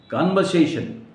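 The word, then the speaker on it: conversation: कन्वर्सेशन नहीं, बातचीत, कन्वर्सेशन, Kanwar, are silent करना है, आर नहीं बोलना है आपको, ड्रॉप करना है, कन्वर्सेशन, राइट?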